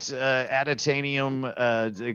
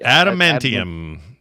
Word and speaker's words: Adamantium: We're doing some Wolverine, our favorite adatanium covered skeleton guy. Adatanium. Don't forget about adatanium. How do you say it? Ibit? Adamantium.